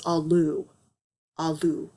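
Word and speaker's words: alu: seen earth before and if you pronounce that it is allu and allu appears to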